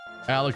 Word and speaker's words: Alec: Alec rhymes with Gurnie Hock, which is a character from Dune.